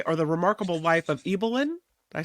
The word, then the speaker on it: Ibelin: the remarkable story or the remarkable life of eelyn I say it right this time yes you